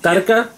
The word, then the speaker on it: tadka: in India is called tadka. What's that? Tadka or... Wait, how do you say that? Tarka? Tarka. Tarka. Tad? Tar? No, no roll of the R's, my bad. No R.